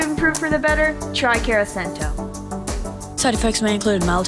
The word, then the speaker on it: Carasento: unfriended on social media then you should try caracento that's how you that's how you say it